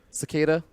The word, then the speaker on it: Cicada: Cicada. It's like a cicada. What's wrong with It's spelled Cicada. That's a pretty confusing pronunciation.